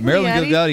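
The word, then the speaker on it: Marilyn Ghigliotti: It's Marilyn Gigliotti, you know, she played Veronica in the movie Clerks.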